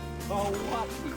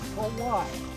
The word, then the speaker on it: Kauai: And the oldest island, Kauai, not Kauai, okay? K-A-U-A-I, Kauai.